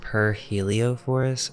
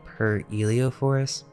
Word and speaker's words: Pyrheliophor: or Wilhelm geschutes also it may be pronounced per heliophores or per Elio Forest because there are some different versions of the name that you will see